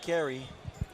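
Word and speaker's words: Kharie: hard to do well his name is spelled k-h-a-r-i-e so my phonetics caused me to say Kyrie but if you're saying Kerry I'll buy it oh yeah it's a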